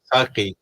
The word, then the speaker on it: Saqi: جی جی نہیں وہ کہتے ہیں کہ ان کا نام جو ہم سپیلنگ کرے تھے ساقی SAKHI, that was wrong. SAQI ساقی Saki.